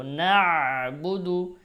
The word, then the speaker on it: نعبد: ইয়াকা, ইয়াকা, নুন আইন জবর না, না আইন উচ্চারণ করে, বা পেশ বু, দাল পেশ দু, না বুদু, ইয়াকা না'বুদু, না'বুদু, وإياك نستعين، نستعين، إياك نعبد